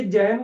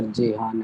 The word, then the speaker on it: जेहान: और ये जैन को कितना है? जैन? सर 4। मैंने प्रोनाउंस तो करेक्ट किया ना तुझे बेटा? नहीं सर, जेहान है।